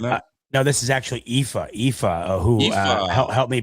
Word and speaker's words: Aoife: No, this is actually Aoife, who helped me pronounce the name the other day, which I'm glad because I'm terrible with these names sometimes.